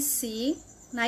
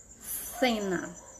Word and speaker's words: cena: o pronunciación fé e se na Espanha e na Espanha nós pronunciamos os e com e o e os e com i com esse som do th do Inglês Que som é esse cena e na Espanha eu